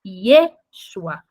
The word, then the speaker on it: Yeshua: muito comum sabendo que não se pronuncia o J então o nome a pronúncia dele no hebraico não é Jesus é Yeshua porque ali possui o tetragrama do nome de Deus então em em hebraico se fala Yeshua e o significado dele